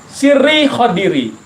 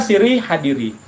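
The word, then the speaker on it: سري خضري: Ada yang mengatakan sirri hadiri. Ya, kalau sirri hadiri maknanya adalah sirku hadir kepadaku. Tapi kalau sirri khadiri, sirku adalah ibarat Nabi Hidirku. Saya lebih senang bacanya sirri khadiri. Ada yang teksnya itu sirri hadiri. Kan beda ha dengan ho, hanya titik nih.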